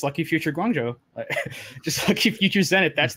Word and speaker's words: Guangzhou: but I think it's Guangzhou. Guangzhou. I'm not. I think the last syllable is like Joe. That's the one that I remember the most, like Guangzhou.